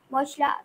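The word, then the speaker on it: मूंग: মুগ হবে মুং। ময়হস্যু গ, এটা বাংলায়, এর মধ্যে একটা অনুস্বার ঢুকে যাবে, মুং।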